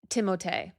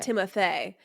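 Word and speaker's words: Timothée: No, but French pronunciation. It doesn't sound like it's Timoth, right? It's Timote. Timote. Timote. Timote. Not Timothy.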